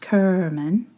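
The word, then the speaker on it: Cerman: Her name was Gail Kerman, pronounced Kerman, and she was an art major.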